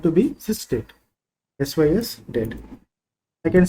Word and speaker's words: SYSDATE: So it is pronounced, it is said to be sysdate, sys date.